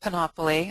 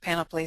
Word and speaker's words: Panopoly: there is something like penopoly I I'll say penopoly instead of panopoly since it um since it is supposed to rhyme with the with Monopoly um this install profile